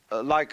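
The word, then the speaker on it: 理: When we speak of order, we usually tend to think of something symmetrical, of something like a library, you know, where all the shelves are rectangular.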